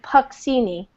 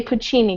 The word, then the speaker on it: Puccini: the Italian Jew but we don't say puck see me you know like we say Puccini because we know about